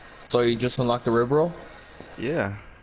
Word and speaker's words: Ribeyrolles: the ri roll yeah wait how you say it RI roll that's how you say it I don't yeah that's how a lot of I've been saying River rolles it's a it's French just just on French r